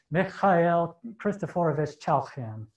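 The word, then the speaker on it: Mikhail Khristoforovich Chailakhyan: His name is pronounced Mikhail Christophorovich Chalkin.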